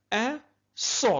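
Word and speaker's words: un saut: أن صو. لاحظوا اس مقترنة مع أ و إي. إذن سننطقها صو، مع العلم أن التاء لا تنطق. إذن حرف أبكم لا يمكن نطقه.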